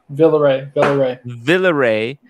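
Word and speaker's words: Villeret: Villeray. Quantine complet. My God. Oh, that's how you say it. He didn't spell it correctly.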